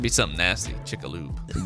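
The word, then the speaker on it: Chicxulub: Just so you know, it's Chick Lube.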